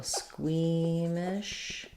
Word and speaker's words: squeamish: we have squeeze squeeze first syllable stress squeamish sounds like squeeze mesh I was pretty squeamish